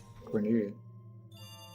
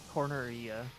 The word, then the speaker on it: Corneria: He also likes to welcome everyone to Cornelia. I hope I said that right. Corneria. Cornelia? Corneria, yeah. Fight me, Fire Emblem fans.